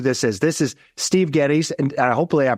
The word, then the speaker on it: Geddes: uh know who this is this is Steve Gettys and I hopefully I pronounced that right sure did yeah rock and